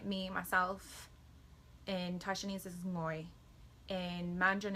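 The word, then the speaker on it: 我: It's just like the end of sing or song, bring, ngoi, bringing. If you can say bringing, you should be able to say ngoi.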